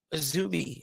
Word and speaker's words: AZM: Mina Shirakawa, Maika, and Mei Seira beat Saya Kamatani, Tam Nakano, and Azumi is apparently how AZM is pronounced.